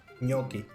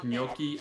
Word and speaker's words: gnocchi: pronounce it which is the way that I heard a lot of my older Italian thing I pronounce it and Yoki and then there's uh there's like four different pronunciations of the word and they're all right in different dialects it smells good and